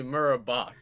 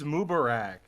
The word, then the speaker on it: Mubarak: Actually, Murabach. Am I? It's Mubarak, dude.